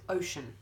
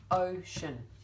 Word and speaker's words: ocean: so first one is ocean ocean that's ocean now let's just look at the word ocean for a minute the e is a bit useless really in terms of so